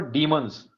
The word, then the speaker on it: demons: Demons or demons? Demons. Demons. Okay, it is not demons. Yeah. Like demonstrate. Some.